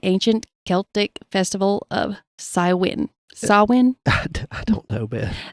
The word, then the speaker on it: Samhain: Samhain? I don't know, Beth. The pronunciation part is spelled Sahwhen. Samhain.